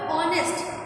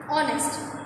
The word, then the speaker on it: honest: The word honest has a silent H, you know.